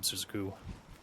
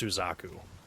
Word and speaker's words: Suzaku: Good job, Suzuku. or Suzaku or however you pronounce it. I'm pretty sure it's Suzaku because you just su and then z a ku.